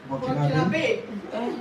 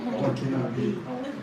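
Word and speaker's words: Burkinabé: I googled it actually, but I still can't pronounce it even with the Google. Burkinabe. Burkinabe.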